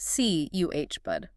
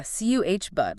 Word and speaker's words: cupboard: It's pronounced C uh bud. C uh H bud. That middle vowel gets reduced too, doesn't it? Like a schwah. Yeah. Cu bud. Like cub then bud.